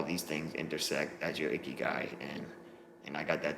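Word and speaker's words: ikigai: a japanese word um it's pronounced icky guy and that's basically um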